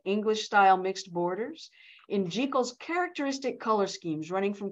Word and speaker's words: Jekyll: despite the fact that it's pronounced jekal rather than Jekyll there is a connection